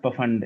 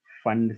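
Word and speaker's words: Pfund: और अगर 5 हो तो फंड, पी साइलेंट। या कौन था ये? किसने बोला? मैंने सर, हाँ मानव। मानव ने, सही। Yes, it is P silent. It is not Pafund, it is Fund series.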